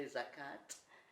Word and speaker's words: zakat: throughout your life right zaka some people say zakat with a tea and something is like